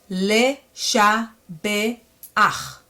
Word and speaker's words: Leshabeach: But once it comes at the very end, you have to reverse it and pronounce it as ach instead of cha. Le, sha, be, ach.